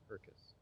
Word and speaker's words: Herkus: I always, that's a tough name that I never, the only reason I remembered how to pronounce it because I know it rhymes with circus. Herkus.